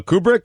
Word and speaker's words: Kubrick: that went crazy doing Clockwork Orange and a Kubrick and Stanley Shining. Kubrick. The Shining. Hold on a minute. The Shining, and I'm thinking, who did Deer Hunter? I'll check it out right now. A young Stanley Kubrick, is that how you say it?